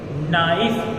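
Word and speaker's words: knife: सामने what do वे से नाइफ को तू बी से ना एफ नहीं जो शब्द इस है वो होता है साइलेंट की भाई केक को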